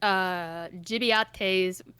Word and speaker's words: Gibiate: I just found that Gibiate's, that's how you say it. It sounds like Italian or something.